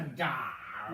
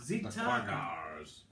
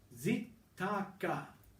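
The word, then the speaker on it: Xitaka: Just that's a j or a z sound. That's a k sound. That's what we need to know. X-Tagar. No, you're still wrong. Zitaka. Zitaka.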